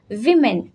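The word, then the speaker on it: women: तो main मीन्स बहुत सारे पुरुष, एंड विमेन, क्योंकि यहाँ पर MEN है तो इसका प्रोनाउंसिएशन होता है वीमेन।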